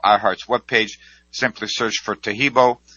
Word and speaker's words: Taheebo: webpage simply search for teibo which is spelled t ah e e be like boy o so the complete spelling